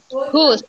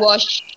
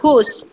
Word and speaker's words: whose: Whose, bukan wash. Kalau wash itu kalian mencuci. Ya, wash. Kalau ini bacanya whose.